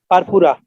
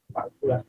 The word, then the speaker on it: purpura: এটার নাম কি বলতো, উচ্চারণ করতো? পারপুরা। পারপুরা, very good.